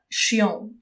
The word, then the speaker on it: chiant: Mais chiant, le mot chiant, pas chien, chien c'est un animal, ok? Chiant, ça se prononce chiant.